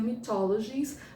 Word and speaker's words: Mythologies: se pronuncia mas a em inglês seria mythologies ah ou no francês mitologi né ah ah o